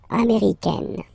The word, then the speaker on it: américaine: Okay, it's really open, this A-I, A, américaine, okay?